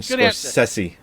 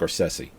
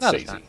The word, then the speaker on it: Scorsese: I thought it was thought it was scors sessi it is scors sessi but I'm not GNA say it I just like correcting you it's Martin sessi sessi I do it because I know it